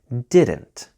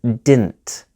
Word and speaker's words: didn't: in colloquial spoken English there are two popular ways to pronounce didn't one is exactly as I have taught you so far didn't pronounce every letter clearly this is still very common but another very common pronunciation is didn't so the second D the middle D is silent this is much more common in spoken informal English and the only time